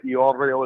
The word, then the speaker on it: Iorio: Gets this bug girl Melissa Iorio is the correct pronunciation.